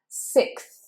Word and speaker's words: sixth: too far, but you want to make sure you put it and you press it slightly against your top teeth, and you blow air between the tongue and the top teeth. 6th. So you should feel air passing between tongue and top teeth.